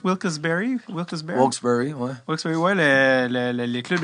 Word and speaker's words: Wilkes-Barre: T'as été justement à comment tu prononces Wilkes-Barre? Wilkes-Barre, ouais.